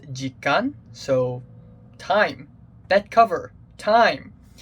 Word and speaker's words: 時間: it means time and i think it is pronounced jikkan so time that cover